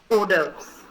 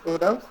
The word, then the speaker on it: hors d'oeuvres: The next one is something like starters, but it is pronounced differently. I'll explain to you. This after D, it's an O. Okay? It's pronounced as hors d'oeuvres.